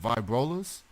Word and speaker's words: Vibrolas: Lila of the band let me get this pronounced correctly of vibe rollers that is absolutely correct and you even said